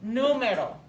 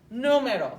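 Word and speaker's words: número: we say this and we've got the stress mark here so we're going to put stress on this first syllable okay numero numero where are we going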